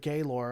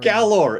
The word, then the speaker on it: Galor: you actually see the Gaylor, along with the 2 other shuttles, begin firing. Galor. It's called Galor.